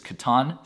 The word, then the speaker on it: Catan: One of my personal favorites, board game and phone game, is Catan, Settlers of Catan. Look it up, that is how you pronounce it.